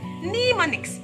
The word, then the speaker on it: mnemonics: Now letter M makes the sound and look at the word mnemonics. Mnemonics. Letter M here is silent.